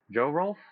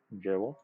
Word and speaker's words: JohrolF: And we will be running Chtulie versus JohrolF. Is that how it's pronounced? Correct. Yeah, JohrolF is correct.